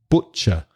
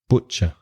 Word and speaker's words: butcher: sound in butcher is o so that's the same sound as words like took look put foot notice the sound doesn't always reflect the spelling so double o with look p-u-t put different letters same sound butcher butcher it's a butcher